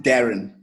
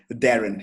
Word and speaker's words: Darren: So we just pronounce it Darren. Darren. Oh, yeah, a little bit light on the A, Darren, yeah.